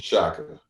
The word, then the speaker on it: Shaka: It's Shaka. It's not Shaka Khan.